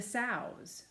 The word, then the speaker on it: sow: animals they fed the sows these are pigs I know you know that's a pig and here's a little piglets the baby pigs the mama pig is called a sow rhymes with cow that's how you can